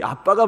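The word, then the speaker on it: אבא: 있었는데 얘도 뭐 이 아빠가 봤습니까 봤습니까 하는데 아빠가 맞습니다 아빠 예 우리 히브리어 러 에 그대로 읽으면 아빠입니다 영어식으로 읽으면 앞 압니다 영어식으로 예 영어는 비츠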